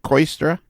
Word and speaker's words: Kooistra: on so our Blaire my pronouncing your last name correctly is it coy stirrer yes you got that right what's that what's the